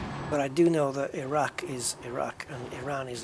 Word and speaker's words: Iraq: There's no, I don't think those people pronounce the I like an I. It's pronounced like an it, as in ink, or insightful, or initiative. Iraq. Actually, the Q is more like a sound, isn't it? Iraq. Back of the throat stuff.